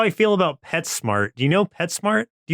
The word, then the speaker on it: PetSmart: This is like how I feel about PetSmart. Do you know PetSmart? Do you have PetSmart over there? You say it like pets and then mart, but it's actually pet smart.